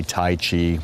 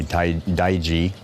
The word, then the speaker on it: Tai Chi: they say young and some people say Taichi with the hard si and and others say tight daiji it's a slow motion